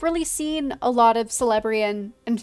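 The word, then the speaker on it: Celebrían: seen a lot of celebrian and forgive the soft sea that's just how I pronounce it uh I don't think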